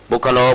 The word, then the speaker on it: ปุคคโล: ไป ลักษณะ อย่าง นี้ บุคคโล บุคคล along แปล ตาม ปุคคโล อ่าน ว่า บุคคล สุ นิ วา หู